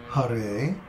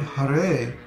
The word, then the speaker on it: Hare: For example, Ha in Hare is a short syllable, but the Re is a long syllable because the vowel is A. So the word Hare is pronounced Hare.